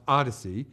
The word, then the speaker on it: OHDSI: components plus data visualizations the observational health data science and informatics consortium pronounced Odyssey is a loosely organized